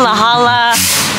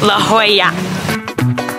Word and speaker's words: La Jolla: La Jala, La Hala, La Hula Hula. What's it actually pronounced? La Jolla. Oh, La Jolla.